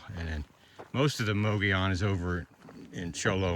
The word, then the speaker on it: Mogollon: Look at the Mogollon where the rim is, as the locals say.